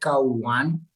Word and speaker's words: Kau: it's k-a-u right because a lot of people think or pronounce it cow well why people pronounce